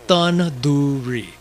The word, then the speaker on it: tandoori: But you can say the word the, so say tandoori. Phew. Learn to say it right. You know, a person's mispronunciation of that word, along with the mispronunciation